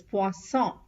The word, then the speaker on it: poisson: 2S and single S. 2S has the S sound, and 1S has the Z sound, Z sound. So fish is pronounced as poisson and poison is pronounced as poison.